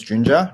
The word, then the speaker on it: Junjia: start the questions um yunjiya you want to start yeah sure sure um my name is jinja rhymes with ninja that's pretty easy to remember um i joined um